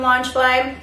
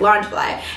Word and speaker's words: Loungefly: got from launch fly i really hope i'm saying that right lunch i kind of looked up to see if i could find how to say it properly i don't want to say it incorrectly but that's what i i think it sounds like launch fly anyways i got this